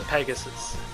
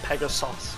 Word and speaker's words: Pegasos: The Pegasus, or Pegasos as it's supposed to be pronounced here.